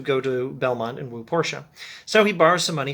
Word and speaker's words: Portia: belmont to woo porsche that's p-o-r-t-i-a but uh the way i hear pronounced at least porsche not portia anyway pronounce it how